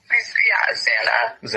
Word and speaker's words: Xana: you were with, and I think her name's pronounced Zaina. Yeah, Xana.